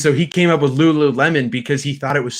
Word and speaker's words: Lululemon: properly um and so he came up with Lululemon because he thought it was so funny that when when people of like Japanese descent or whatever um would pronounce it they'd say Ruru reman and uh like they can't say isn't that